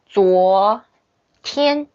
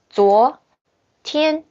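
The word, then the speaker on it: 昨天: So 昨 it's the second tone. 昨天 okay. 今天 look. First tone. 今天昨天今天明天 So yesterday and tomorrow they have the same tone.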